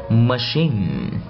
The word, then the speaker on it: machine: Một số chữ ch được đọc thành âm gì? Sh. Đó. Cái dấu này là cái dấu đó, đọc làm sh. Ok. Rồi ví dụ như là champagne, champagne. Machine, machine.